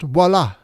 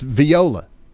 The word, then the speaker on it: Viola: And don't sit there and tell me actually Ryan it's pronounced voila because I I don't care anymore. It's viola.